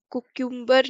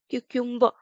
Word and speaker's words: cucumber: कुक्यूम्बर नहीं क्यूक्यूम्बर.